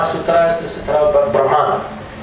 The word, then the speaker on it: Brahman: Brahman, I know Gurudev pronounced it differently, but I pronounce it like Prabhupada was saying, in a neutral, because it is more characterizing the neutral aspect.